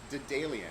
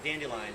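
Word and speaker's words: Daedalian: minute wait a minute i've been saying it wrong yes man for like as long as you've had this beer me and my wife have been saying it wrong so so say it again it's the dalian d'dalian yes and let people say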